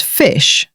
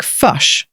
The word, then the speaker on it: fish: An example of this would be the word fish, pronounced as fish in standard English, and sounds like fush in the New Zealand accent.